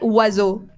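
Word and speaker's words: oiseaux: And then as a Spanish speaker, you you read it o like we pronounce everything. O and in French it's like wazu and you're like what the but why?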